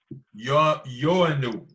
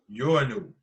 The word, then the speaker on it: Ioannou: Yoanu. Mm-hmm. It's spelled IOANNOU. Yoanu.